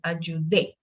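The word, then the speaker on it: ayudé: the second syllable uh but here because of the tilde we need to go and give the accent to the last syllable at your day and also because if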